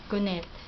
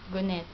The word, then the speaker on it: godnat: In Danish, godnat. Godnat. This is how they spell it, but this is how I pronounce it, godnat.